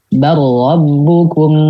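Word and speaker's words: بَلْ رَبُّكُمْ: Bar rabbukum rabbus samawati wal ard. Bar rabbukum rabbus samawati wal ard. Oke. Berarti ini dibacanya idgham ya. Karena kenapa? Karena depannya lam sama ro.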